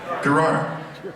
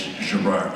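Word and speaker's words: Gerrard: And I lived in a 5-flight, a little room up on, the names are beginning to, like, Gerard? No, it's Gerard. You're pronouncing it incorrectly.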